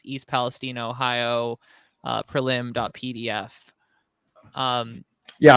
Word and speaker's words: Palestine: East Palestine Ohio uh it is locally pronounced Palestine uh this is like